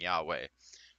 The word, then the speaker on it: Yahweh: whenever I'm in the shower I've been asking Yahweh which is the correct pronunciation in the Bible of God I don't